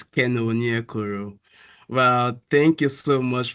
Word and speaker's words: Keno Onyekoro: you did pronounce it very well. So it's Keno Onyekoro.